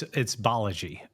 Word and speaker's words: Balaji: So can you please tell everyone how to pronounce your name correctly? Sure, it's Balaji, but a lot of people, whatever, if you'll